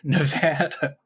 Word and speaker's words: Nevada: That's how they say it here, Nevada.